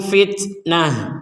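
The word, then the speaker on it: فتنة: Ketika kita berhenti di sini di huruf ta-nya ini, maka huruf ta ini menjadi diucapkan sebagai huruf ha. Jadi huruf ta yang bulat ini kalau kita berhenti menjadi huruf terakhir yang kita berhenti, maka huruf ta ini menjadi huruf ha terbacanya.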